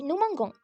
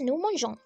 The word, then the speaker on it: nous mangeons: And if you're thinking why that has happened, it's to maintain the pronunciation because if you don't have e, it would be nous mangons. Nous mangons is wrong. So, we have to put the e, so it is nous mangeons.